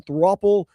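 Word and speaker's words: throuple: And then throppple, pronounced like couple.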